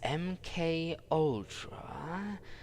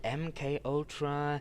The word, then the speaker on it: MKUltra: Their conducted research would eventually end up laying the very foundation for the CIA's top-secret project known only as MKULTRA. And yes, by the way, I've been mispronouncing that word ever since we stumbled upon it the first time.